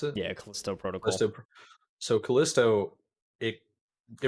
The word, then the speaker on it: Callisto: mike yeah like callisto is that how they pronounce it yeah callisto protocol so callisto it it reminds you of